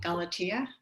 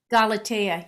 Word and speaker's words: Galatea: sure if i'm saying it right is it galatia galatea yeah yeah yeah that was another oh good ones so yeah okay um well that was the story of pygmalion and galatea pygmalion was a sculptor in cyprus and cyprus